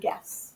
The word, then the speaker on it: guess: There is a silent letter at the beginning of the word guess.